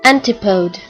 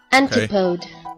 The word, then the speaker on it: antipode: Anti, like antechamber, right? And then pode? What the fuck is a pode? I don't know. Let's look it up. Pode. It says here, a podium. Okay. Antipode.